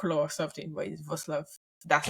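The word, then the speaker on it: Wrocław: VAV V yeah actually the spelling and pronunciation are entirely different different yeah so it's w w r o c l a w so entirely different you would say walk or something but V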